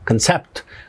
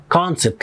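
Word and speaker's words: concept: مش على المقطع الثاني فهنقول هنا مثلا كونسب مش هنقول كان سبت ولكن كونسبت ليه ان الستريس على الجزء الاول ودي ودي ودي ما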